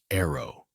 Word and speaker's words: ARO: Ozzy and Sharon's eldest daughter, Aimee, has created her own musical identity as ARO, pronounced Arrow, away from the public eye.